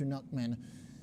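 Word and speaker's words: Knuckman: I appreciate it Mr nockman the K is silent the chief Market strategist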